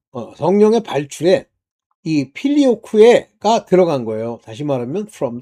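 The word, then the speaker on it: Filioque: 뭐 걔네들이 발음하는 식으로 필리오쿠 뭐 이렇게 했는데 필리오쿠에가 이제 정확한 발음이라고 전 봐요.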